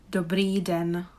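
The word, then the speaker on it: dobrý den: first quite easy i guess how would you pronounce this phrase the breeden there is actually probably not really nothing really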